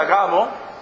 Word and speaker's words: Agabo: un profeta tenía este don agabo así se pronuncia agabo no tiene no puede ser agabo o sí